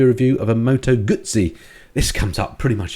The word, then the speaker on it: Guzzi: I think it's Guzzi. Guzzi, as in the Italian.